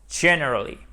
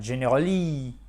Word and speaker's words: generally: Si vous ne mettez pas l'accent tonique sur la première syllabe du mot, vous allez vous planter pour la prononciation. Vous allez faire generally, for example. Et ça ne marche pas.